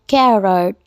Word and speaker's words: carrot: तो अब हम बात करेंगे गाजर की, जिसकी ब्रिटिश इंग्लिश में प्रोनंसिएशन है कैरट।